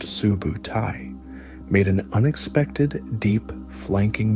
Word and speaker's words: Subutai: like his brilliant commander Subutai, pronounced Subutai, made an unexpected deep flanking maneuver through supposedly impassable deserts or mountains, appearing instantly where they were least expected.